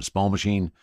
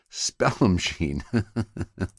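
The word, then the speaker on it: Spallumcheen: this moment I think I've been pronouncing that wrong all my entire life Spell machine is how it is it said now it's pronounced and it's only because I'm high that I realize that I have been saying that word incorrectly sorry for the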